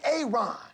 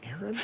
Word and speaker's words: Aaron: A aon. Aaron. Why didn't you say it the first time I said Aon? Because it's pronounced Aaron.